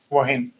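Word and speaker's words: wohin: will be wim so within a word h will be silent but over here I'm pronouncing this h because these two are different words as we know already w and this is these are different words we are combining it together. Hence we are pronouncing this H wahin.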